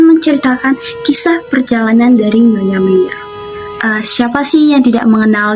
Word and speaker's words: Meneer: Si ibunda dari Nyonya Menir ini melahirkan beliau. Ibundanya berpikir untuk memberi namanya sebagai Menir. Namun karena Indonesia pada saat itu masih mengikuti ejaan dalam Belanda, jadi penulisan Menirnya bukan Menir tetapi Mener.